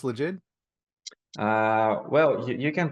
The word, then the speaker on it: Legit: Mostly we call it legit. Legend. Okay. Like a Legit. legend. Legit, yes. Yeah. But you can pronounce it as you like, because the word legit derives from two words, legal and ID.